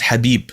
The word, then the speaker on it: Khabib: arabic his name is habib which means beloved it's actually an arabic word so i've always been confused because it had a k in the beginning so i was always